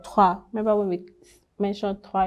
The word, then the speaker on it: trois: Then when you see an OI, it's pronounced usually as wa, like in poisson, fish, or trois.